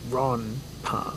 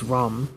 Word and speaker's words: ronpa: What's interesting is it wouldn't be pronounced Ron-pa. It's Rom. It would be like an M, because when you put the character for N in front of a pa letter, it changes to an M.